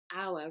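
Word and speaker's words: hour: spelt H oh you are but it's actually pronounced our rather than power so the word on earth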